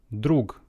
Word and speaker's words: друг: Друг. Друг, but this G at the end can be pronounced as H.